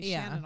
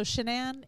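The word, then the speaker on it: Shanann: time that shanan was it's really hard for me because it's spelled like my name Shannon almost so I want to say Shannon all all the time so shanan and the children when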